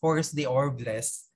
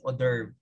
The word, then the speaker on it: hors d'oeuvres: sa kanila is mga, yung spell niya is hors d'oeuvres, pero you pronounce it hors d'oeuvre, pronounce hors d'oeuvre.